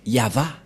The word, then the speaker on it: Yahvah: c'est V et et la prononciation de ceci c'est yava voilà euh la prononciation